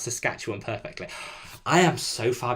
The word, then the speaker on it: Saskatchewan: Tina says, Rob, you've pronounced Saskatchewan perfectly.